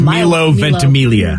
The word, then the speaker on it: Milo Ventimiglia: his name vicky i thought it was it's milo ventimiglia yeah yeah so yeah milo definitely i mean